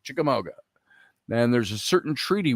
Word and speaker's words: Chickamauga: they drove them away to the mouth of the big chickamooga now i think i'm pronouncing that right although you southerners down there you know what i'm talking about the chickamauga is what it looks like chickamauga and there's a certain